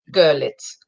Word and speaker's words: Görlitz: Görlitz, is that the correct pronunciation? Görlitz. The emphasis is on the first syllable. Görlitz. So it's like a U, Görlitz. Yeah, right, okay, yeah.